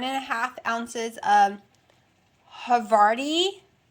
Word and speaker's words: havarti: a half ounces of havarti i'm pronouncing it right because somehow it looks like y'all would tell me to pronounce it hey vati and then other people it looks like havari so her body dil